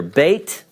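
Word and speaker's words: בית: English approximation Olive this is the Hebrew letter Beit all right without the doggish the English approximation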